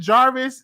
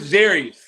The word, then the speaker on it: Jarius: Is it Jarvis? Did I say it right? It's Jarius. Jarius. Like Darius?